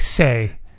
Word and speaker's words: sei: How is it spelt? SEI, I think. But it's phonetically like it's like say.